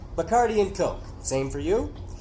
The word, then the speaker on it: Bacardi: I could never drink Bacardi." Only she said it correctly, Bacardi, not Bacardi, like people in the States do.